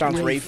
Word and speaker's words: Ralph: So we have Josh Brolin, George Clooney, Ralph Fiennes, Jonah Hill. Ralph Fiennes. It says Ralph Fiennes. Yes, but it's pronounced Rafe.